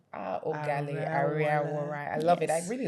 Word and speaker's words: Oghale Ariawhorai: Tell us how to pronounce that name properly. So it's Oghale Ariawhorai. Oghale Ariawhorai.